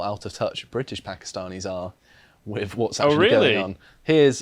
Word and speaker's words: Pakistan: a reminder to all it's pakistan not pakistan please please kind of takes away from the four-letter racist slur that the racists call us and it's how pakistanis pronounce it thank you so you've